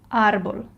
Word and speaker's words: árbol: So if I want to read this word properly, I'll read árbol. Okay, so I'll stress the first syllable. I put more strength and more emphasis on the syllable where the tilde is.